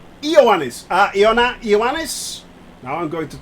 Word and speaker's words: Ioannis: Close enough pronunciation, but it's Ioannis.